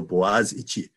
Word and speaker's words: Boğaziçi: The spelling doesn't look like how it's pronounced unless you know how to pronounce Turkish letters. So Boğaziçi.